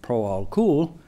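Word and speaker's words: Proálcool: uh Pro alcohol program which you will probably pronouncing proalcool it is cool it's a pro alcohol that that the guys in Brazil pronounce uh it was launched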